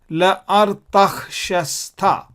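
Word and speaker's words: לארתחשסתא: And how do we read this? La ar tach shas ta. La silent, this is a vocal. La is vocal.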